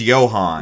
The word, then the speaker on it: Johann: So his first name is Johann. Johann. If you know anything about how Johann is spelled, the Yo is not spelled with a Y. It's spelled with a J.